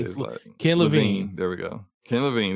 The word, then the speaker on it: Levine: Judas being created by creative director Ken Levine. I don't know how you say it. Ken Levine.